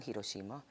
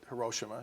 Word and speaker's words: Hiroshima: And my mom is a survivor of the atomic bomb that was dropped on Hiroshima.